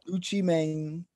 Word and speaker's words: Gucci Mane: very classic uh yeah gucci mane that's how you say it guys put the accent on but uh that was